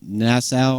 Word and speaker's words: Nassau: This album is the 7th studio album recorded at Compass Point Studios in Nassau. Is that how you pronounce it?